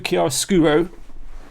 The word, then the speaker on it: Chiaroscuro: I'm going to go through Chiaroscuro. That's how you pronounce it as well, apparently.